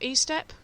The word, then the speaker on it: Estep: It's Estep, not Estep, Richard? Yeah, I mean, Estep's how it's pronounced.